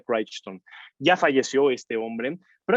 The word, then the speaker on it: Crichton: park michael craig bryson así es como se pronuncia se escribe crichton pero se pronuncia craig stone ya falleció este hombre